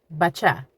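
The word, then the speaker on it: بچه: Bacha, bacha, boy, bacha, bacha.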